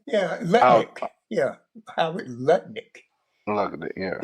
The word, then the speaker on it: Lutnick: Well, did you hear did you hear what was the treasure secret lipnic? Mhm. Did I pronounce that correctly? Yeah. Lutnik.